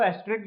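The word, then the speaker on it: asterisk: कहा इसको एस्ट्रिक जाता है, पर इसकी स्पेलिंग होती है एस्ट्रिस्क।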